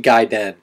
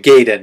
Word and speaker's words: Gaiden: on this game uh Ninja giden black uh I think that's how you pronounce it I'm pretty sure ninja giden uh it's not ninja gayen which is how I usually I how I used to pronounce it apparently I was I was saying it wrong the whole time and it's something